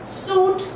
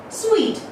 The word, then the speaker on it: suite: Now, there are a lot of people who pronounce it as suit, okay, or there are so many other pronunciations. Well, let's talk about the correct pronunciation directly. The correct pronunciation, and that becomes sweet.